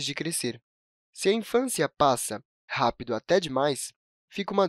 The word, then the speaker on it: passa: Se a gente a escrevesse com um único "s", pronunciaríamos "pasa", o que está errado de acordo com a norma culta da língua.